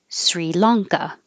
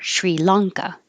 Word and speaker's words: Sri Lanka: And you can say this, excuse me, with no sh sound or with the sh sound. So without it, it's SR Sri. With it, it's Shri. So Sri Lanka or Sri Lanka.